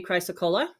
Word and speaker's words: chrysocolla: So, and I'm not sure I'm pronouncing this one right, but this one is called, I'm pronouncing it chrysocolla because of the double L. It could be chrysocolla.